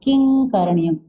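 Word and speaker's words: किं करणीयम्: तो हमने यहाँ किंग करणीयम, है ना। ये नियम है कि क, ख, ग, घ के पहले जब भी अनुस्वार आए तो उसका उच्चारण क्या होगा? ग होगा। क्या होगा?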